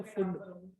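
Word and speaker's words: Pfund: Bracket है और वो अरे ये पी फुंड में ना, पी जो है वो साइलेंट होता है, तो फुंड फुंड बोल देते हैं, लोगों के ही नाम पर है।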